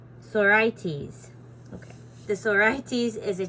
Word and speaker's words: sorites: in this chapter is the sorites pronounced oh I'm saying it wrong pronounced Sor IES sores okay the sores is